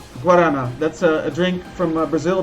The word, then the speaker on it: guarana: right now of uh gorarana tell me if I'm mispronouncing that it's uh guarana that's a drink from